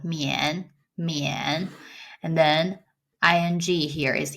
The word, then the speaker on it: mian: It's with the yen, and then the m, so mian.